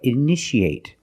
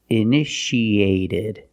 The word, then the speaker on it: initiate: You see T-I-A. How do we pronounce it? That's right. Shh, shh. So how do we pronounce this word? That's right. Initiate. In the present, initiate. In the past, initiated. The second T is between vowels, so we pronounce it like a fast D.